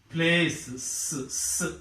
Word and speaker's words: places: The word ends with S. When it is made plural, it becomes places. Generally, we use it as places, but it is not places. It is places.